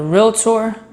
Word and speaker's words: realtor: First thing I want to say is it's a two-syllable word, realtor or realtor, depending on how you pronounce words, but it's not three syllables.